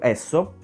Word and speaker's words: Esso: europa lavora col marchio esso proprio perché la standard oil la primissima compagnia petrolifera mai esistita aveva come primo s o che in inglese si pronuncia esso o all'epoca nelle famosissime